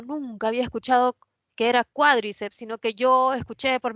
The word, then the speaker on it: cuádriceps: O sea, ¿lo lleva en la I o es más bien cuádriceps?